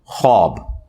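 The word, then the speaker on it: خواب: भी जाता है लेकिन यह लवग है ख्वाब तो वह उसमें फिर साइलेंट हो जाति है तो यह बट की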